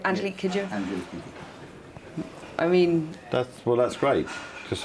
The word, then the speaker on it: Angelique Kidjo: Am I pronouncing that right? Angelique Kidjo? Angelique Kidjo.